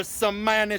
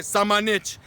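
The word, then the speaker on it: Šamanić: Okay, so after my boys, Luka Samanic, that's how you say it, Samanic, the Croatian sensation, told me himself.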